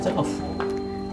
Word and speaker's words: 笏: À, nó được phát âm là "hu".